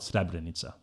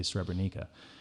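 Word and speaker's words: Srebrenica: that are from srebenica we call it stabbed Aneesa but Americans say Streb Anika I couldn't say it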